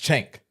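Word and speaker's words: Cenk: You know Chenk? The dude's name is Chenk. His name is Chen K, but it's pronounced Chank.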